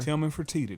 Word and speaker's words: Tillman Fertitta: Tillman Fertitta.